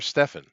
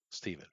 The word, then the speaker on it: Stephen: Yeah, are you Steven or Stefan? Stephen. Steven. Okay. Correct way. The proper way to say it. Yeah. Stefan's spelled with an A.